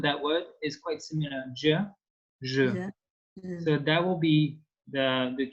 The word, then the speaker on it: je: And so I in French is pronounced je.